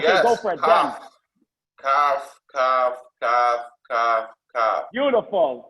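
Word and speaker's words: כּ: So the Kaf that has a dot inside has a cough drop that heals your, and then you can pronounce Kaf, clear. Kaf, clear. The Chaf doesn't have the dot inside, and therefore it's a bit of a sore throat. You sound hoarse.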